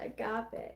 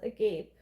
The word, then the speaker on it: agape: To have the mouth agape, it is the same. To be awestruck by something breathtaking, delight, We are made humble once again. So agape and agape actually are spelled the same.